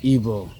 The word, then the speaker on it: Igbo: Shin, which is Chinese for God or spirit, and obi, which is ebo. I pronounce my language right. Igbo is IGBO.